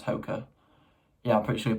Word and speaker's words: Hoka: I'm pretty sure you pronounce Hoka.